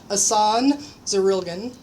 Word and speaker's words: Jasson Zurilgen: I am here today with Jasson Zurilgen.